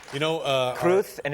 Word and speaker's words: Cruz: P you know uh kruth and it's not Cruz they pronounce it kruth castillan you speak Spanish